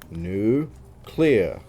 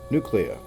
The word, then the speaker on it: nuclear: a nuclear winner especially when you pronounce nuclear wrong say it the way it's spelled new clear nuclear Master of the